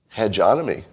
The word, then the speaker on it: hegemony: guys who are being abused by the American hegemony. I'm glad that you could be here for the first time I've tried to pronounce that word. Hegemony? Hegemony? Hegemony. Hegemony. Hegemony.